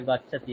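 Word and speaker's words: गच्छति: আছে উচ্চারণটা কি হবে এটা ভুল লেখা আছে জায়গায় মচ্ছাতি লিখে দিয়েছি ঠিক আছে এটা গাচ্ছাতি হবে গাচ্ছাতি ইয়াতি প্রজাতি বলুন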